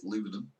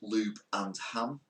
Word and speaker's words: Lubenham: It was called Lubenham, but they would no doubt the locals pronounce it Lubenham. But I pronounced it Lube and Ham, and I think the